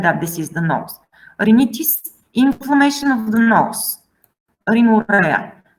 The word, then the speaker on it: rhinitis: So RH is R. Rhinitis, basically nothing special, only that this H, you cannot really hear the H.